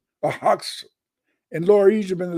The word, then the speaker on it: Hyksos: They always lived in Lower Egypt, and it's pronounced Hux.